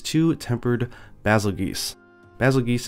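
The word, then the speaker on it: Bazelgeuse: a tempered basil geese basil geese is how my friend at Capcom says it is pronounced so hopefully that is kind of official but I don't think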